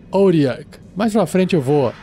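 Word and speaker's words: Otyugh: outlooks puxar essa criatura se escreve o t y u g h em inglês e pronuncia auriac mais para frente eu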